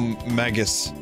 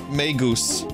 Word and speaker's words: Magus: So Maggus Magus meusta. That's Yeah, that's Are you want me to pronounce it like that? Sure. It's pronounced magus in Latin.